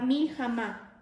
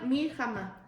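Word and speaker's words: מלחמה: salgas a la batalla, está escrita la palabra milhamá, así como suena, milhamá.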